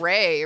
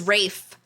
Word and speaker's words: Ralph: He pronounces it Ray, right? I thought it was Rafe, like a rake, but with an F.